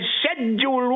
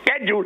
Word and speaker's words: schedule: what is known as Schedule 1. Some people say schedule. That is not the proper pronunciation. It's Schedule 1.